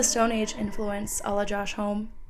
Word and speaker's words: Homme: influence, ala Josh Homme, is it Josh Homme-y? Hold on, let me look it up really quick. Pronunciation. I feel I've listened to so many interviews, and I still don't know how to pronounce his name. I feel bad. It's Homme-y. Okay, cool, cool, cool. Okay, my bad. I was totally saying that wrong.